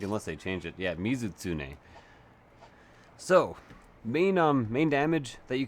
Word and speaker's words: Mizutsune: Ah, Mizutsune. I'm actually pronouncing it incorrectly, I think, unless they change it. Yeah, Mizutsune.